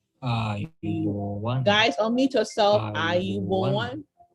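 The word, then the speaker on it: ආයුබෝවන්: Notice the correct pronunciation and speak after me. Ayubowan.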